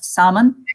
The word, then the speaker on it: salmon: And I think this R-L-M combination, I can think of salmon as well. Some people salmon. Say salmon, but salmon.